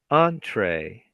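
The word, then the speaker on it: entrée: Entree, the main dish of a meal. You say entree? Entree. Yes, it's French. It's French, so it has the pain in the neck pronunciation.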